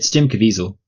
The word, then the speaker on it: Jim Caviezel: It stars Jim Caviezel. How do I pronounce this? It's Jim Caviezel.